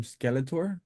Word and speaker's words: Skeletor: you is how do you get the nickname Skeletor is that how you pronounce it yeah yeah that's how you pronounce